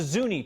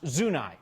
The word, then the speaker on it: Zuni: It's named for the Zuni tribe of Native Americans, but commonly pronounced Zuni in Denver these days, and that's the pronunciation that we use here on 9 News.